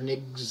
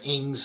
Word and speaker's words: Ng: watched maybe the the dr nick's um dr ings sorry i always want to mispronounce his name dr ing's machine learning videos the first